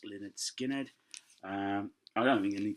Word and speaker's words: Lynyrd Skynyrd: This is the debut album, Lynyrd Skynyrd, pronounced Lynyrd Skynyrd.